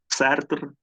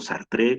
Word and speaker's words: Sartre: de alguien de clase charter o sartre como como gusten les les francés la pronunciación del francés o stark es el